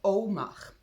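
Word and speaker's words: אמר: Ça s'écrit A-M-A-R, mais ça se prononce Omar.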